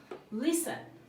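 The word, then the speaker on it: listen: loud মানে হচ্ছে জোরে লিসেন এল আই এস টি ই এন লিসেন লিসেন মানে হচ্ছে শোনা এখানে টি টা সাইলেন্ট রয়েছে নেক্সট ওয়ান হচ্ছে লার্ন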